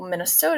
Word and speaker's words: Minnesota: more sing songy quality for example Minnesota is pronounced as Minnesota with stress on the second and fourth syllables this distinctive stress pattern